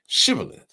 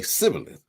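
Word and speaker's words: Shibboleth: They would tell him to say chivalith. If he were from Ephraim, he would say civith because people from Ephraim cannot pronounce the word correctly.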